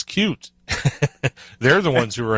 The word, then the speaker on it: Qt: noticed that because ever most people do using qt instead of cute which yeah annoys your ass it does not annoy me it's just that that's yeah the people who who wrote cute say it's cute they're the ones who